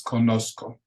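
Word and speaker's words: conozco: Kosco you can know the Z in Spanish does not have a hard z sound it's just like a regular s but it's Kosco so so so completely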